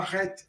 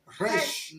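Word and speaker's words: ריש: Alors ça, c'est pas ret. Ret, c'est là-bas. Rech comme re. Rech.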